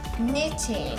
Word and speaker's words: knitting: Knitting. That starts with the K. Ah, Okay. there you go. Little silent K action.